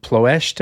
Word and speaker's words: Ploiești: this famous raid on Ploiești, I think is how it's pronounced in Romanian, approximately, The big oil fields there, something like 30% of the bombers get shot down.